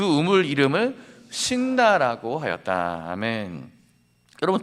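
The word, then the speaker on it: 시트나: 그래서 이삭은 그 우물 이름을 신나라고 하였다. 아멘. 여러분 두 번째 우물의 이름이 무엇이라고요? 신나입니다. 발음을 잘해야 돼요. 우물을 또 발견해서 신난다 이런 뜻이 아닙니다. 이 신나는 대적, 원수 이런 뜻이에요.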